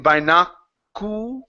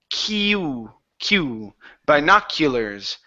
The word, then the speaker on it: binoculars: tested the vernacular ok now in binoculars instead of saying by naaku it's kew kew binoculars they tested the binoculars